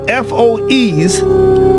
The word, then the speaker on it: FOEs: Because the FOEs, which I pronounce as foe, is an acronym for